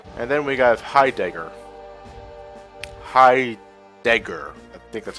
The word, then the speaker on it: Heidegger: Heidegger. I think that's how you pronounce his name.